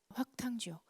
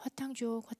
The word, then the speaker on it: 화탕지옥: 확탕지옥. 이제 철 학자였는데 발음이 힘드니까 나중에는 그냥 화탕지옥 이렇게 됐죠.